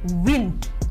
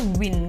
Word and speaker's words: wind: itu hanya w i kalau orang Indonesia pasti bacanya sama-sama wind gitu ya tapi yang tepat adalah wind untuk angin Nah kalau yang menang baru Win Oh oke gitu terdengarkan